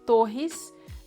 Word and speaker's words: Torres: And Fernanda Torres, the double R sounds like H. Fernanda Torres.